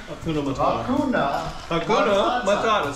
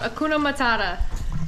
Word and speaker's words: Hakuna Matata: we're gonna go out fishing tomorrow with Hakuna Hakuna Matata say it again you're right how do you